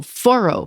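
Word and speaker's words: Forró: I had the pleasure of attending a vibrant local foro party. Foro is spelled Forro with apostrophe.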